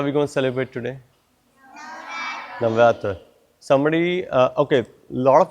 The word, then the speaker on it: Navaratra: Somebody tell me, how is it pronounced in Sanskrit? Sonali? Navaratra. Navaratra, very good.